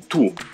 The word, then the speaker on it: tous: des appartements en entier tous les magasins ça veut dire chaque magasin attention le s final du motu ne se prononcent pas et s'écrit avec